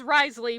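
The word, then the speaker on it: Wriothesley: Okay, his name is Risley, but it's spelled weird and I call him Wistershir Sauce and they have like a and and he's a boxer.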